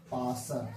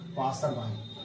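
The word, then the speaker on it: passer: मतलब होता है पासर पासर सही है पास बाय गलत गलत है।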